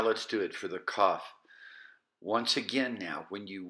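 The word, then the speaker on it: כ: With the Dagesh or the dot, it's just a K sound, K, Kof.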